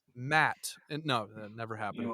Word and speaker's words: Matt: But You mean, sorry, you mean. No, no, Matt. yeah. that if you were German, that's how you would say it. German people, when they say my name, they say.